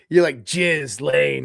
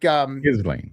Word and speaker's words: Ghislaine: You're like Jizz Lane, right? Like no, it's like Ghislaine. Elaine Maxwell. I've never heard that one. Yeah, Elaine Maxwell. Ghislaine.